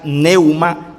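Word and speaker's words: πνεῦμα: En el Nuevo Testamento está escrito en griego y se pronuncia neuma con p adelante. Pneuma significa tanto viento como espíritu.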